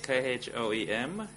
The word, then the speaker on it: Kham: So it's in English Khoem.